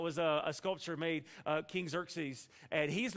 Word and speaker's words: Xerxes: King Xerxes and uh that's not how you think you would say his name by how it's spelled but his King Xerxes and if you've seen